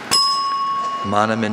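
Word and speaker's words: manomin: Monomin is M-A-N-O-M-I-N.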